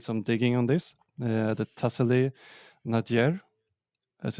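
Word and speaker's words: Tassili n'Ajjer: is not that known, but we're looking at, I did some digging on this, the Tassili Nadir, as it's pronounced, and it's a UNESCO site today, and the area has fantastic cave paintings.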